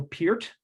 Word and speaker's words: Peart: the name of Neil Peart. And when you're as big a Rush fan as I am, it's pronounced, looks like Pert. But that's not how, that's the proper way to pronounce it.